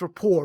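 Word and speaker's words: Rupert: about rayon you know is it Rapport is that the right way to say it it's Rapport right because to be the French um yeah that guy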